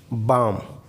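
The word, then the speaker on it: balm: L silent कब होता है? जब कभी भी एल के बाद एम आ जाए तो एल साइलेंट हो जाता है। जैसे काम, बाम, आर्म्स।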